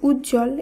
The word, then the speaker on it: উজ্জ্বল: শব্দগুলিকে উচ্চারণ করতে হচ্ছে যেমন উজ্জ্বল এই শব্দে যুক্তবর্ণ রয়েছে বর্গীয় জয় জয় তার সঙ্গে রয়েছে ব ফলা যুক্ত তাই শব্দটি শুদ্ধ উচ্চারণে এই ব ফলা লুপ্ত হচ্ছে এবং শব্দটিতে শুধুমাত্র বর্গীয় জয় জয় এই যুক্তবর্ণ সহযোগে শব্দটিকে উচ্চারিত করতে হচ্ছে একইভাবে সান্ত্বনা এখানে দন্ত